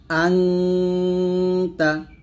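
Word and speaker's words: أنت: কিন্তু এই 15টা হরফ আসলে কিন্তু দন্তন্যটা ন হবে না, অনুস্বরের মতো করে উচ্চারণ করতে হবে। যেমন আংতা, হামজা নুন জবর আং, তা জবর তা, আংতা।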